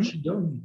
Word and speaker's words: Qigong: Tu prononces Mhm. Qigong, Qigong, Mhm.